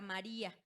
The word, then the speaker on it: María: Pues fíjense en la palabra María. Tenemos María. ¿Dónde recae la sílaba tónica? En la penúltima, o sea, es una grave. Y termina en ¿qué? En vocal.